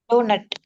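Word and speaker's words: doughnut: இது எப்படி படிப்பீங்க? டோனட். இன்னொரு வாட்டி. டோனட். டோனட். அந்த யூஜிஹெச் கட் பண்ணிடணும்.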